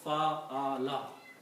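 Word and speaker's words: فَعَلَ: Just put a fatah on each of these and pronounce fa'ala.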